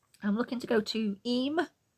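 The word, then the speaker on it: Eyam: it's gorgeous um I'm looking to go to E it's spelled e y a m but pronounced e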